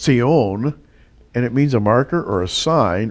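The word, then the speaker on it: צִיּוֹן: times in the Bible as a word in Hebrew is pronounced see own and it means a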